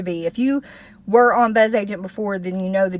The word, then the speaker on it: Bzzagent: agent however you want to pronounce it always pronounce it buzz agent because I like the way that sounds better